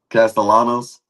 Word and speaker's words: Castellanos: Tommy Cast Castellanos.